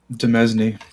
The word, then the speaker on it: demesne: Demesne. Oh, it's domain, not domain? Are you kidding me? That's how you pronounce that?